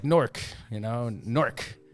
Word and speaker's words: Newark: He pronounces it right. Yeah. You know, it's like Nork. You know, Nork. Newark.